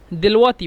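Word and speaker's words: دلوقتي: আল আন টাকে মিশরেরা দেল ওয়াক্তি বলে দেল ওয়াক্তি লিখে দিচ্ছি দেল ওয়াক্তি এটা ইয়া দেলওয়াক্তি এখন এই যে দেলওয়াক্তি দেলওয়াক্তিটাকে মিশরীরা দেলওয়াতি বলে কফকে উচ্চারণ করে হামজা এজন্য দেলওয়াতি তো আঞ্চলিক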